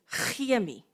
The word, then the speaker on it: chemie: So the Afrikaans word for chemistry is chemie, even though we use a C and an H.